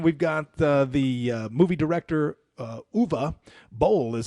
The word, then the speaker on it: Uwe Boll: Number one, we've got the movie director Uwe Boll is how you pronounce his name, German movie director. He made the Citizen Vigilante movie that everybody's talking about. Uwe Boll, yep.